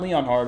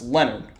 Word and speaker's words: Leonard: The H is silent. So it's not Leon Hart, it's Leonard.